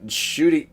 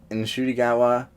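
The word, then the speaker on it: Ncuti: shooty and I know I'm sorry I've been saying his name wrong but so has he you know in shiwa in shiwa in in a recent interview he acknowledged that he had been saying his name wrong the last few years and his mother had pointed out I you know most people myself have saying shoy there's actually an n in front of there it's a very subtle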